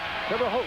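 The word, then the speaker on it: Terre Haute: guys Brian Evans out of terot Indiana terot that's how you say it terot I worked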